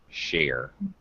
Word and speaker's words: share: off and also share be careful of your shch pronunciation share this sh like ship and sheep share okay all right um